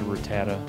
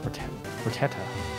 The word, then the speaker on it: Rattata: So now that I have stupid Rattata, you had to come back for one last thing. Which one? Rat-a-tat. Rattata. Rat-a-tat. Ratatata.